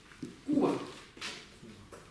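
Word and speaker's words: རྐུ་བ: Ку – это глагол кува. Ударение куда у нас, если это глагол? Вначале. Кува, на первый слог.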